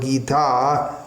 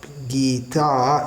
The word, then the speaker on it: Gita: Gita not guitar buggered Gita we have been here it's not guitar it's Gita with a short after the term body